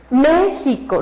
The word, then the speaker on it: México: gráficamente siempre siempre siempre Si Yo escucho la palabra México la palabra México es México no es México ni